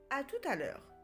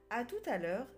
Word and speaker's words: à tout à l'heure: en anglais attention ici on doit faire la liaison entre tout et a par conséquent le T est prononcé à tout à l'heure à plus tard à